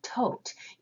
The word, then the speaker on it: Thoth: known as the god Thoth. Yeah. We pronounce the god “tote” and yet Crowley’s tarot deck “thoth.”